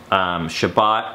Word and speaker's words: Shabbat: part three is about Shabbat rest Shabbat is the Hebrew pronounciation for the word Sabbath so it's kind of